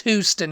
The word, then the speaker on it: Houston: it cute when you say Houston Houston it's Houston okay it's Houston he is a who I